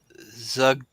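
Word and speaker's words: Zuggtmoy: Zugtmoy.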